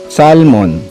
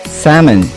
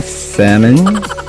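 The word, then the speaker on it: salmon: SAL-MON as we Filipinos usually call this fish commonly made Sashimi. But in reality, it's silent L and is pronounced as Sa-Men (Slang) So the next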